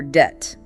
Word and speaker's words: debt: C O MB, but no B sound, just comb or debt. D E BT, silent B.